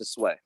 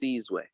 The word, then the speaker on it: Sizwe: Well, yeah, it's funny in South, and my name is pronounced Sizwe, and that's just kind of how I've been pronouncing it all my life. That's how my parents, influenced me to say it. On the continent, it's pronounced Sizwe, and Sizwe literally translates